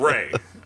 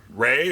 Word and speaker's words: Rhea: I, like a dumbass, pronounced her name Rhea instead of Ray.